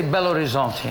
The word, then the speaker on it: Belo Horizonte: But not this trip, How do you say Belo Horizonte in Belo English?